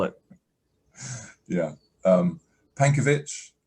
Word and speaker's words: Pankiewicz: spell it yeah um pankovich pankovich is i guess the easy way to say it if you're in japan it will be panky um so yeah p